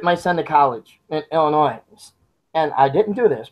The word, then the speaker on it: Illinois: again you don't have to go back to Illinois no s we don't pronounce Fargo we don't for know us it's